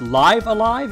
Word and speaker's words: Live A Live: for you I think it's actually supposed to be pronounced live alive if I if I